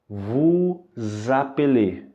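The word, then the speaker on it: vous appelez: as duas palavras e é por isso que essas duas palavras juntas são pronunciadas vos apelê Ok vos apelido a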